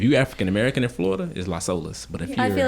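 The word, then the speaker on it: Las Olas: last we're gonna go to olas tonight not la solos if you african-american in florida is los olas but i feel like i've only heard they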